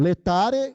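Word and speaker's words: Laetare: domingo notari e agora anuncia-se o letari se escreve lá é mas o Ratinho é pronunciem com a letra e e metary isso significa Alegre Ti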